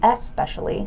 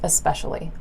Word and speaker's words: especially: the word is especially it's spelled with an e in the front so it looks like it should be especially but the way we say it is just especially but here's the thing